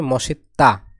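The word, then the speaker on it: 멋있다: মসিত্তা মানে good looking এখানে উচ্চারণ হবে মশিত্তা এখানে দীর্ঘদের উচ্চারণ হবে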